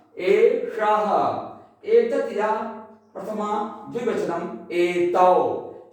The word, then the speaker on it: एषः: तो एतत् यह पुल्लिंगम प्रथमा एक वचन एषः, शः एषः, यहां मूर्धा श का उच्चारण होगा एषः।